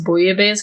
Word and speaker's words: Bouillabaisse: First off, you did actually pronounce Bouillabaisse correctly.